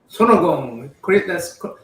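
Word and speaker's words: 손오공: Sonogong. That's how Korean pronounce it.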